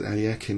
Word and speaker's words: Alekhine: Short and I think he said Alakin is the way it's pronounced.